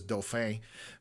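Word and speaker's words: Dauphin: Anyways, the way I pronounced dolphin because I I pronounced it the French way, which is doof, but that's just again my natural tendency.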